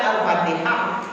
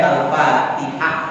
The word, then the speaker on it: Al-Fatihah: Ustaz, kok Iqra bismi rabbikal katanya yang pertama, tapi kok letaknya di juz 30, ngapa tidak Al-Fatihah? Benar-benar. Nah, namanya baik Al-Fatihah, bukan Al-Fatihah, apalagi Al-Fatihah.